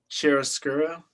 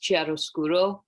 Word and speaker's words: chiaroscuro: It's Italian, Jorge said. It's I think it's pronounced like I can't roll my R's, but I'm pretty sure it's pronounced chiaroscuro or like something similar to that.